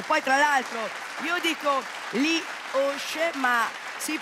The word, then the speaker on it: Li Osc: E poi tra l'altro io dico Lee Osh, ma si pronuncia perché ovviamente loro sono... Campanilisti, no? No, vabbè. No, voi cosa dite? Lee Osh? Lee Osh, con la O chiusa, Lee Osh, che nel dialetto dell'Alta Valtellina, dei comuni Osh.